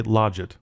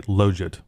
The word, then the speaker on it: logit: Now, I will briefly say something about the pronunciation of that word, Logit. I've heard other people say Logit, and really, I don't care. But I think the proper way is to say Logit, but I'll probably slip and say Logit.